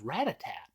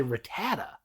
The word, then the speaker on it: Rattata: Because sometimes it's weird because the Pokedex says Rattatat, but some people say Rattata. Rattata, yeah, that's what it is.